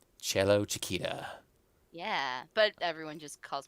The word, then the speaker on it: Cellochicita: call you cello but how is it actually pronounced it's cello Chiquita cello Chiquita yeah but everyone just calls me cello or